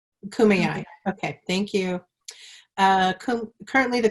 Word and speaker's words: Kumeyaay: tribe, so I'm not going to try and mispronounce it. Kumeyaay. Kumeyaay.